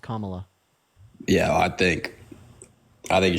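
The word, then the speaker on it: Kamala: just think I think Camila Harris is okay our name is pronounced comma yeah I think I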